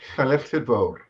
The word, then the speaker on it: Llanilltud Fawr: But you have to know how all of the letters are pronounced. And where were you born? Llanilltud Fawr.